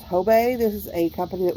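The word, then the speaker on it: Hobé: brand that is H OBE and that is pronounced tobei this is a company that was founded in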